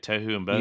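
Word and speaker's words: tohu wa-bohu: how you say it toou and boho you got it right all right I got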